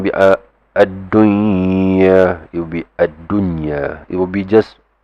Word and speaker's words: ad-dunya: It will be adunya. It will be just pronounced clearly.